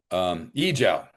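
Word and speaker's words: 阿胶: Yijiao, that's it, Yijiao.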